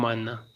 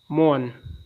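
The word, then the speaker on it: mourn: तराज है उबे हुक्म मानना नोट जहन में रखना मोन मातम करना दोस्तो इसमें य आर साइलेंट है मोन मातम मोशन हरकत करना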